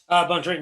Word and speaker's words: Bontorin: And he's taking on Rogerio Bontorin. Is that how you say his name? Bontorin, yeah.